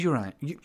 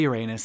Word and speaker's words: Uranus: So every time I say Uranus, I'm like, oh, do I want to say that out loud? Because it sounds like your anus. Oh, no. But that's just how it's pronounced. Technically, it's pronounced Uranus, but nobody pronounces it that way.